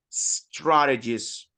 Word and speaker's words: strategies: Strategies. Strategies. Strategies. Good. Strategies, not gis. Strategies.